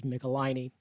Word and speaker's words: Michelinie: michelani and you know i only recently learned how to pronounce that word so hopefully i'll say it correctly throughout this video it is michelini looked it up found